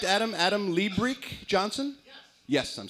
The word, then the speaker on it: Liebrich: Adam Liebrich Johnson?